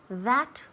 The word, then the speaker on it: that: Remember la pronunciación de that. That. La TH hay que sacar la lengua, right? That. Y soplar. That.